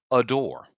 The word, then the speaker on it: ADOR: Hmm So it says after a long legal battle, all five New Jeans members are returning to their record label, Adore, and that's spelled ADOR.